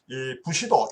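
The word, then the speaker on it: 武士道: 사실은 지도력의 도에 해당되는 부시도 일본 발음으로 부시도라고 하죠 어 무사도를 갖추어야만이 참된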